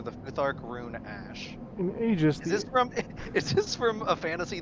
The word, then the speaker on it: Aegis: In Aegis, the AE can pronounce as a long E or a long A.